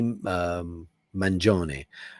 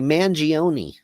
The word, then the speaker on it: Mangione: His name is Luigi Mangione. Luigi Mangione. But the Americans say Mangione. Mangione. That's only because I study Italian and I'm just like, I know more than everybody.